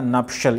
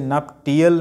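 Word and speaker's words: nuptial: Seventh word है हमारा नपशल. इसे नप टीएल नहीं पढ़ेंगे, इट्स नपशल, शल पढ़ना है इसे, नपशल नॉट. इसमें के साइलेंट है.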